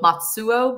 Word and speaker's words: Matsuo: I mean, some people like to go the really hardcore Japanese pronunciation and go Matsuo, but I say Matsuo.